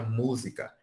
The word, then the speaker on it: música: No exemplo do MTS, ele usou a própria palavra música. Música! Música! Então, o mu é a sílaba forte, por quê? Porque a gente fala com um pouquinho mais de ênfase, né?